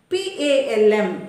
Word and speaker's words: palm: b-a-l-m it is bomb p-a-l-m it is palm even a level between